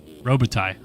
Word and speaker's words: Robitaille: Robitaille? Robitaille? Robitaille, okay.